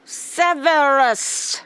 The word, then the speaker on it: Severus: Severus rhymes with severed head.